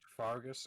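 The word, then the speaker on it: Faerghus: Again, I am not familiar with the lore, so if you couldn't tell, it's pronounced Fargus, and it's one of 3 of the main countries of the continent of Thorland.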